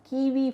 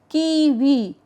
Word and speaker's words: kiwi: So, always remember W you should not sound as W, you should sound as V, V.